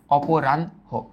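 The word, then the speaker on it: অপরাহ্ণ: উচ্চারিত হয় এটা জানো কিন্তু উচ্চারণ করার বেলায় আগে ন আসবে পরে হ আসবে আগে ন পরে হ তার মানে এটার উচ্চারণটা দেখবা অনেক অনেকগুলা বইতে ইংরেজিতে এন এইচ এর মতো দেওয়া আছে আবার অক্ষরপত্র প্রকাশনীর নতুন বইগুলোতে এটা খুব সুন্দর মতই লেখা আছে যেটার উচ্চারণটা হচ্ছে অপ ফাস্টে আমরা বলি অপ তারপর আমরা বলি রান অপরান তারপর আমরা বলি হো অপরান হ অপরান হো তাহলে এইতো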